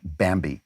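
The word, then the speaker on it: Bambee: a year in salary that's why you want bambi which is spelled b-a-m-b-e-e for some reason it was created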